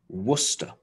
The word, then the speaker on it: Worcester: that place name for the football team worcester worcester famous for the source and this one is